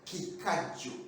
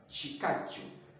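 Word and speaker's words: ekikajjo: For example, sugarcane, it is in Uganda it's called chikaju, not kikaju, because it is ki, ki, but we pronounce it as chi, chikaju.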